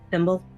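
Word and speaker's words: Fimble: Thimble. What? Thimble. Dimple. Thimble? Thimble, like the thing you put on your fingy. F-I-M-B-L-E.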